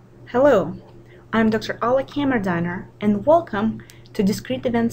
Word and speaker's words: Kammerdiner: Last name is pronounced Kammerdiner.